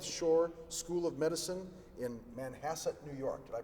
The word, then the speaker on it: Manhasset: from Hofstra North Shore School of Medicine in Manhasset New York did I pronounce that right doctor that's correct all right